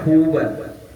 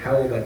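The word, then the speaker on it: حوبا: Jadi bacanya huban bukan hauban. Huban.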